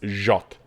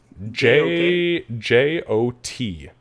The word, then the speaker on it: Jot: It's Jot. How do you what? J-O-T. Jot. Jot. Jot. I'm totally gonna mispronounce that every time.